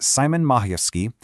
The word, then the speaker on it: Szymon Majewski: And it's written by someone who's really in the trenches, Dr. Szymon Majewski, and that's pronounced Simon Majewski.